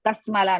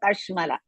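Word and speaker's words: कश्मल: Kashmala. Ka hrisva sha shankara sha. Kasmala no kashmala. Sha is shankara sha half.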